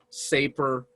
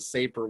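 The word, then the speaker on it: Sapir: want you to consider is called the wharf safer hypothesis and i'll spell that for for you w-h-o-r-f and then there's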